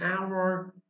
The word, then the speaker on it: hour: in an hour because your word hour has a vowel sound. It's, for example, O is a sound when you say hour and the sound of H is silent.